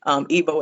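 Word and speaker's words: Igbo: Ebo is spelled EGBO, like the G is silent, but you can look up Ebo Landing and go.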